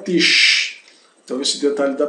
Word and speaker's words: Tisch: Então, as letras SCH se pronunciam como quando mandamos calar alguém. Né? Sh, né? Sh, sh, né? Sh. Então, der Tisch.